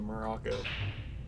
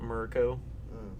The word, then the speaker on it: Morocco: In fact, I like to pronounce it Morocco, because that's what us natives do. Moroconians. Think about it. It's like America, but Morocco.